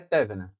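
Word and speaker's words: Thévenin: Então, nosso amigo aqui, teorema de Thevenin ou Thevenin, mas aqui a pronúncia pelo acento aqui é Thevenin, beleza?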